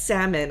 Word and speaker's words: salmon: Yes, salmon has a silent L.